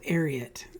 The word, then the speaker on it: Ariat: where we are uh arot now a lot of people pronounce these different ways uh I learned from watching a YouTube video recently that they're actually named after Secretariat so arot is how you pronounce